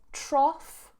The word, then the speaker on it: trough: got a terrible cough the second one is trough trough now you can see in the picture